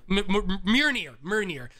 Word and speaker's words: Mjolnir: hammer that is his universe's I can never pronounce the name. Mjolnir? Mjolnir.